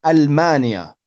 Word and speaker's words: ألمانيا: So here we don't say minal, it's not alif and lam. It's min Almania.